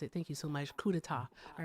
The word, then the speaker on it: coup d'état: I knew I mispronounced it. Thank you so much. Coup d'etat.